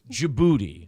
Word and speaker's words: Djibouti: named DJ Booty's house that was not it's Djibouti Djibouti is the most fun name of all